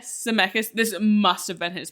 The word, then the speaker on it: Zemeckis: Zemeckis.